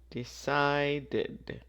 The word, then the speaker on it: decided: take a vacation so this one we say the Ed because of the D here decided and finally you introduced